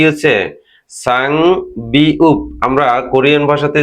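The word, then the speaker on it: 쌍비읍: হবে দুটি বিয় বিউ তাহলে এটির উচ্চারণ কি হবে সাং বিউ সাংবিউপ তাহলে আমরা আরো একটি শব্দ শিখে ফেললাম।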